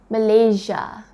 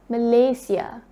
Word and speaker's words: Malaysia: it was then that i was taught the right way of pronouncing our country's name so it's not malaysia it's malaysia and representing our country